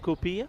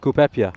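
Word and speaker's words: κουπέπια: So not kupia? Kupepia. Kupepia. Okay, kupepia.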